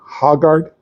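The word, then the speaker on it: Højgaard: Hogard. H I forgot how to say Hard. Hajard.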